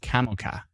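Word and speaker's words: Komoka: That's pronounced Kamoka.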